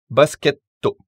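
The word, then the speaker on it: バスケット: On appuie, si vous voulez, sur le son T plus que sur le son TO lui-même. Pocketto, et non pocketto. Basketto, et non basketto.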